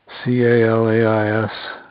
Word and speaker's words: Calais: to a house in Calais down on the river road CA la is in Maine pronounced Calais just like thickened skin on your hand the situation there was